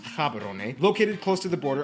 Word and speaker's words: Gaborone: and largest city is gaborone if you speak setswana it's pronounced haberone located close to the